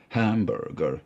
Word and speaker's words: hamburger: So you get hamburger, and you also then get the accent on the first syllable, hamburger, as opposed to tomato, where the accent is on the second syllable.